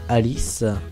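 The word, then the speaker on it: Aeleeth: Alice, A-E-L-E-E-T-H, ouais, je sais pas, ça se prononce Alice pour moi.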